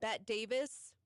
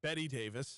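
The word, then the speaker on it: Bette Davis: of Independence uh 1989 bet Davis Betty Betty Betty Davis oh I was going off of like Bette Midler you know they spell it the same way yeah uh and 20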